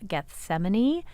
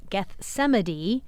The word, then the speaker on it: Gethsemane: online saying, wait, but he used the hard G. It is Gethsemane. And yes, it is Gethsemane, but it's not Gethsemane.